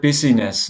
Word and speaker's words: busyness: shared with me that the word busyness, not business, but busyness in Chinese consists of two syllables, one meaning killing and the other meaning heart.